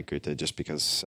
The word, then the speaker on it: Goethe: Is Goethe a particular favorite of yours? Tim Ferriss: I have a collection of aphorisms and lived in Berlin for a period of time, became really infatuated by Goethe.